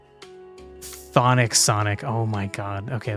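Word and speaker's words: chthonic: just it is just you just don't pronounce the CH thonic Sonic oh my God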